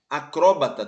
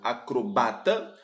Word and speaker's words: acróbata: seu acento gráfico tirado acróbata também pode ser pronunciado acrobata e projétil também pode